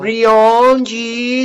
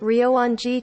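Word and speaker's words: Ryoan-ji: on the temple so rioji temple is should be pronounced this way listen it's ryoji tambol gionji renault listen listen rio wan ji temple rionji temple ryonji temple okay in english in japanese it is this way okay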